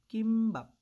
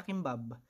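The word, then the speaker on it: 김밥: And then, para sa ating final consonant, we have kimbap. Kimbap. Hindi siya kimbab. Okay? Kimbap. Kasi nasa ilalim. Letter P.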